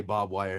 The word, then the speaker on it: barbed wire: wire natives barbed wire we always just say bob wire instead of barbed wire so yeah that would